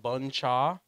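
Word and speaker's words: bún chả: dish or yeah it's a dish it's called bun cha boom cha it's spelled how uh b-u-n-c-h-a and it has [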